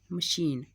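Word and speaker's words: machine: आ रहा है इधर सी एच श इस साउंड का यूज हो रहा है य श की जगह काम कर रहा है अभी दूसरा वर्ड है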